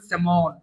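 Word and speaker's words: salmon: আরো আছে আপনার স্যালমন, লিখবেন স্যালমন কিন্তু উচ্চারণ করবেন স্যামন, ঠিক আছে?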